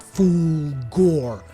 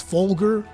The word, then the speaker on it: Fulgur: There's Fulgor and Janath, which and I say Fulgor, I think I'm not pronouncing it right because it's not Fulgor. It's Fulgur. Fulgur.